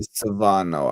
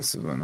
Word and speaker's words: Savona: Now, I think it would be Savano. I would guess that's the only recognized. How do you spell it?